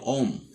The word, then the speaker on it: ওহম: তো ওহমের সূত্রর এই নামটাকে একটু সংক্ষেপ করে আমরা হ অক্ষরটাকে বাদ দিয়ে উচ্চারণ করব হলো ওম।